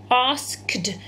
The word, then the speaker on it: asked: You can't really hear that eh, okay? But you do pronounce the d on the end, all right?